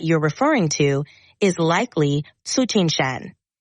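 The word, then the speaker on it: Tsuchinshan: to pronounce it do you know how to pronounce it the comet's name starting with t that you're referring to is likely suchin Shan it's named after the observatory where it was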